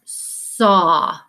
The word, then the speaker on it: saw: the problem is that right here the aw says ah so this is not an a sound this is a vowel team this word says saw and that's when your